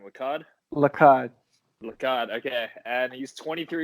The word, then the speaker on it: Lacad: Lacad.